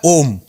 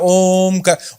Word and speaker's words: ओम: कर रहे हैं ओम ओम का उच्चारण एक अलग उच्चारण है प्राणायाम में उदगी में जब आप ओम की ध्वनि को निकालते हैं तो वो ओम नहीं है वो तीन ध्वनियां है अ उ और म तो आपको जैसा वो